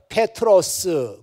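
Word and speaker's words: Πέτρος: 그 윅 이름입니다 예 그릭 식으로 발음을 하면은 페 트 로스 그렇게 발음을 하게 되죠 그 뜻에는 돌 반석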